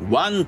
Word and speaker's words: 腕: 腕は漢字でワンと読む。